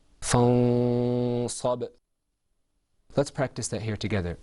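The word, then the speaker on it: فَانْصَبْ: So let the example that you see is pronounced without ikhfa, fansab. With ikhfa, it's pronounced fansab.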